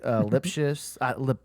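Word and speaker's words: Lipcius: So that's who I said his last name wrong. It's like Lipsius.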